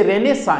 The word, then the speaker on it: Renaissance: इसे रेनेसा English में जब हम इसे बोलेंगे तो रेनासा कह सकते हैं इसे इंग्लिश में।